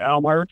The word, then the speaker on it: Amherst: I'm pronouncing that right? Amherst? Yeah, Amherst.